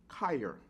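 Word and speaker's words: cheir: But the word when you say lay hands ans in the Greek is let me spell it c h e i r chair but it's pronounced kyer from which we get the word chiopractic.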